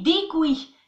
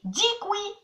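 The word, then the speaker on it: děkuji: Mais attention, si vous dites DQJ, les Tchèques, ils vont faire comme ça. Attention, ça ne se prononce pas du tout comme ça s'écrit. Ça se dit dikui.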